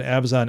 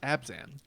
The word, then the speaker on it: Abzan: That's just like an Abzon aggro deck, which should be on our list of top 100 decks. Could have been, yeah. Also, it's pronounced Abzan.